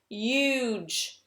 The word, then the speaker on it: huge: This word is now huge. Huge. Very good. Something that is really important for you to notice with these words, this E is silent.